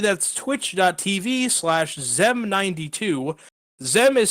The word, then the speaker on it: Xem: of the subjectively wrong a lot of the spanish speakers pronounce it shem uh i've got i've gotten the whole gambit of but it is zem yes right so simply